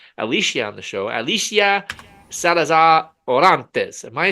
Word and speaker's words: Salazar Orantes: Alicia Salazar Orantes. Am I saying that correctly? You're saying it perfectly. I am. Excellent. You have to roll your R's a little yes, bit.